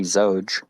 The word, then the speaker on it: Xoge: at any rate um the original pronunciation would be zoge where the x sounds like a z but uh i kind